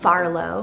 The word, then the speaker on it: Farlow: First, I have the name Farlow, so spelled F-A-R-L-O-W. I think it's super cute and so sweet because it has that Arlo in it, which is one of my favorite four-letter boy names.